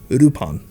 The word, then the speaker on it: Lupin: i know better nowadays the correct pronunciation that's used today and what's faithful to the character's legacy is lupon i'll be pronouncing it